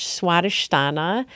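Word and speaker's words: Svadhisthana: in that way so the Sanskrit term and again Sanskrit is um is a different language so sometimes it's harder to pronounce but it's swadish Stana so um this is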